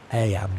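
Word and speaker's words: Eyam: It's now the summer of 1665 and we find ourselves in Aam, a small village nestled in the picturesque hills of Disha, England. Aam, you know, is pronounced just like I.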